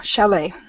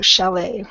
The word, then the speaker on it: chalet: how ski lodge apparently it's a Swiss of Swiss origin so Shelly and that was chal et um one thing I